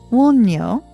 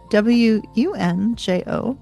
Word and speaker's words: Wunjo: Wunjo, w u w u n j o, Wunjo, closes this first of runes with joy.